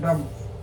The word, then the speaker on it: dumb: ही इज डम, डम बी लिखते हैं DUMB, लेकिन बा को साइलेंट करते हैं, डम करते हैं।